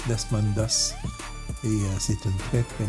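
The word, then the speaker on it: Desmond Doss: Et son nom à ce monsieur-là c'était Desman Dos. Vous ferez des recherches sur Google sur Desmond Dos. Ça s'écrit D E S M O N D espace D O S S S Desmondos.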